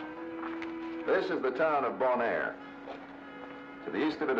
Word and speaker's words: Bonaire: Bonaire. You know, bon, good, air, Bonaire. Huh.